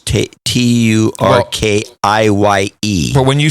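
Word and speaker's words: Türkiye: And people are very slowly moving over to the correct pronunciation and spelling, which is Turkiye.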